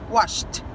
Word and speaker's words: washed: Wash e sh. Washed.